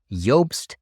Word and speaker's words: Jobst: today I'm reacting to a recent interview of yobst landree on the geopolitics and Empire podcast yobst and by the way that's spelled j o b St is a German